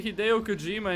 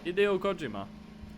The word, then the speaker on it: Hideo Kojima: That's how you say Hideo Kojima in Japanese. Hideo Kojima. Hideo Kojima. You know, the pitch accent is probably all over the place.